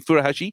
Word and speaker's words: Furuhashi: Thank you, Furuhashi from Stade Rennais for £8.5 million, and Marvin Duksch from Werder Bremen for £1.5 million.